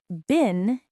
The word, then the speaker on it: bin: The words bin and bean sound very similar but are very different. A bin is a container. A bean is something you eat. Bin has a short I sound like in sit or win.